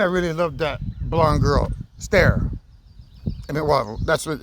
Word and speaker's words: Sterre: It's pronounced Sterre, like a S-T-A-R-E, Sterre.